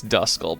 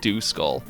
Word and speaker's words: Duskull: I know it's Duskull, but my mind can't help but see the DU and think Duskull. Everybody has some Pokemon names